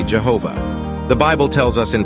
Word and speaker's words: Jehovah: The word Lord in Genesis 18, 1 is derived from the word Yehovah, the pronunciation of which is usually Jehovah.